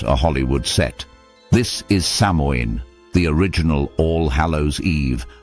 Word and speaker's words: Samhain: Long before candy corn and costumes, the Celts of Ireland and Britain observed Samhain, pronounced Samhain.